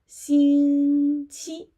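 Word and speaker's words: 星期: Basically, we need to say one word, which is xīngqī. Yeah, okay. Xīngqī, here you can see yeah, this word, xīngqī. Yeah, and then you put number after this word. For example, xīngqī yī.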